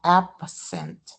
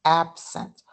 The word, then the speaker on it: absent: So absent, it's not absent, it's absent.